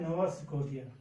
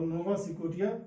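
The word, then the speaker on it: نوفا سكوتيا: وی اور ڈبلو کا پروناؤنسیشن اور اس کا تلفظ عربی میں فا سے ہوتا ہے. یہ ہے نووا سکوٹیا. یہ ہے نووا سکوٹیا.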